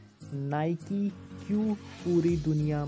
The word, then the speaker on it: Nike: बहुत सारे नाइकी के फैन नाइकी को मिस प्रोनाउंस कर देते हैं। बहुत सारे लोग नाइकी को नायका या नाइक या नाय ऐसे अलग अलग शब्दों से प्रोनाउंस करते हैं, लेकिन इसका सही प्रोनाउंसिएशन है नाइकी।